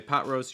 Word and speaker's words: pot roast: pot roast okay so notice that when you say pot roast you want to stress that first syllable okay pot pot it's going to be your stress it's that ah sound something that we've mentioned